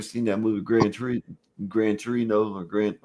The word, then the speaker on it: Gran Torino: Have you ever seen that movie Gran Tur Gran Torino or Grant How do you say it? Yeah, Gran Torino.